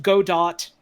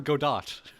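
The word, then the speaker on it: Godot: Number two, uh, if I'm in it, I have to keep insisting that it's pronounced go dot. We're waiting for go dot.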